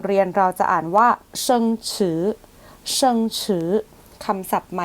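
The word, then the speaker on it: 生词: ใหม่ ใน บท เรียน เรา จะ อ่าน ว่า เชิง ฉือ เชิง ฉือ คำ ศัพท์ ใหม่ ใน บท เรียน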